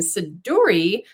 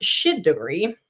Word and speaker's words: Siduri: my middle name and sedur which actually I I've heard it's pronounced shidori is a character from